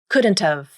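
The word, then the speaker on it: couldn't've: You drop the H and reduce the vowel in have, just like you did before.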